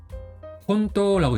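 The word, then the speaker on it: 本当: 뒤에 이거는 토라고 읽어요. 근데 앞에는 음독으로 혼이 붙어 가지고 혼토라고 있습니다.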